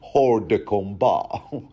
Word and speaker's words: hors de combat: You're thinking to yourself, I think you'll find it's actually pronounced hors de combat. It's French, you see.